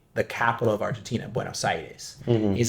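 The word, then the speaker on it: Buenos Aires: the capital of Argentina buenos sides he's like there four words uh the first word is way w a y mhm the next word is no n o the third word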